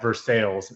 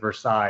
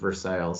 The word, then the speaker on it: Versailles: I don't know how that started, but it's how everything's pronounced when you're here in the state. We also have Versailles instead of Versailles, if you were curious.